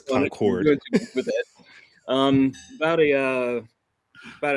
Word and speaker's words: Concord: Um, well, to pronounce it correctly, it's Concord. Concord, that's right. Okay. That's right. From North Carolina, it's Concord.